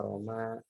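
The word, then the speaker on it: رمى: Roma, makanya dibacanya harus panjang ya, Roma.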